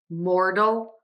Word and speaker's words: mortal: dull Mortal Mortal Mortal so in my opinion I think that the first word sounds a little bit smoother moral and I feel like there's a little bit more of kind of a quick change in the pace mortal so moral mortal moral